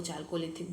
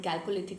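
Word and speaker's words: chalcolithic: कैलकोलिथिक कहीं कहीं पे आपको चालकोलिथिक बोल देते हैं, ठीक है, बट कैलकोलिथिक I think the best pronunciation या राइट प्रोनाउंसिएशन।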